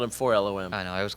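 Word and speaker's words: 4-LOM: When I read it spelled out phonetically, I was like, that's not how you say forlom. That's 4LOM.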